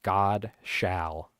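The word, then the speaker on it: Godshall: look them up Steve godshaw God shall it's spelled like God shall there you go make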